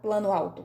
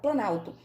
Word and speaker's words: planalto: Eu não falo plano alto, eu falo planalto.